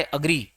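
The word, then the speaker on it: agree: तो ये पहले से उच्चारण सुधार लेते हैं अपन। तो ए नहीं बोलेंगे, अ बोलेंगे।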